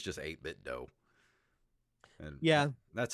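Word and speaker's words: 8BitDo: games and i believe the dough in the name is pronounced like do d-o-e as in a martial arts school i think the name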